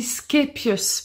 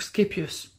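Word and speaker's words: Scheepjes: le nom vous savez on dit scapius parce qu'en fait elle elle est belge je crois et elle parle le néerlandais le flamand donc skapius oui bon toute façon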